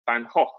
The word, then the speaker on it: Van Gogh: brother Theo, and that's Vincent van Gogh, or Van Gogh as we pronounce it in English.